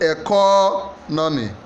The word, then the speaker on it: economy: it e is it economy the answer is actually B the second syab economy you stress the first